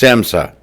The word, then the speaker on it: SAMHSA: So today, with the help of this public health hotline, It's pronounced SAMHSA.